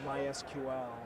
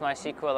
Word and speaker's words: MySQL: thing i've noticed is you always say mysql yeah yeah preferred oh this is a traditional pronunciation as i remember said by by founders but i think mysql is not picky you can call it my sequel and you wouldn't offend anybody okay well this is